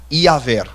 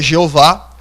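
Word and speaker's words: Iavé: Embora eu não possa bater o martelo, eu acredito que a pronúncia mais exata do nome de Deus seja Iaver. Tá bom? Então, eu discordo daqueles que dizem que é Jeová, por mais que essa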